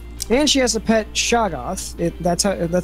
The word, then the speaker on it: Shoggoth: Well, she has a six-dimensional TV, and she has a pet Shoggoth. That's how it's correctly pronounced?